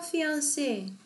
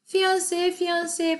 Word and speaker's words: fiancé: He is her fiancé. 그 사람이 그녀의 약혼자예요. fiancé 발음 똑같아요. 근데 이제 불어 단어기 때문에 이게 스펠링이 다르죠.